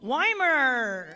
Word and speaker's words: Weimer: In third place with a time of 49.04 from Hartford, Weimer. Is that how you say it? Is it Weimer? Yeah.